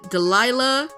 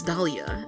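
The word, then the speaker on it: Dahlia: to baddy like that Delila or Lea not Delila BL de Leah Hawthorne Dalia Dalia wait am I pronouncing it wrong I'm going to go Google it I think it's Dalia and I was pronouncing it like a idiot are they still together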